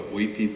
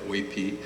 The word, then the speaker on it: Uypi: a tribe called the Oipi people. Uh UYPI uh written by the Spanish. So it' be pronounced as if it was in Spanish, which would some people